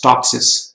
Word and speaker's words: TOPSIS: similarity to Ideal solution in short we just pronounce is topsis so topsis stand for